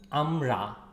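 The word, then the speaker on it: আমড়া: fruit it's hok plum amra the r is here strong r um okay it's not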